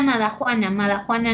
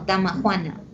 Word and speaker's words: damajuana: Compré una madajuana no, damajuana.